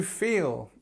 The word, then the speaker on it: feel: I feel simple version this is the E long e I feel and then but you